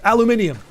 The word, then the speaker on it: aluminium: But if you go to the UK it's aluminium. Aluminium. Five syllables.